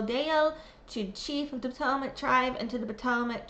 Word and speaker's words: Patawomeck: to the Patawamik name, the pronunciation right here is how it's pronounced. Nestled upon the banks of the Rappahannock River, and we're very excited about the future of the Patawomeck tribe.